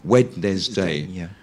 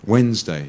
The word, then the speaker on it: Wednesday: if you were really pronouncing it phonetically you know wedes day but it's actually you forget the D yeah completely yeah Wednesday you know yeah and